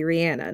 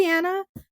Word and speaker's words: Rihanna: And that's the way you pronounce her name is actually Rihanna, not Rihanna.